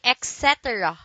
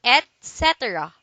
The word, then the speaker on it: etc: say escape etc etc don't say etc do say etc these are two words